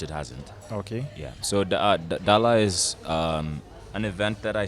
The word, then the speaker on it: DALA: You have to say it like that. Of DALA. course. Okay. I mean, people say Yeah. DALA, but Yeah. it's DALA. That's DALA. yeah, which Okay, means so- home in Jango.